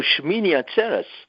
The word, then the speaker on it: Shmini Atzeret: Shmini Atzeret. Oh, Shmini Atzeres. Yes. Okay, the way you pronounce it, Shmini Atzeret.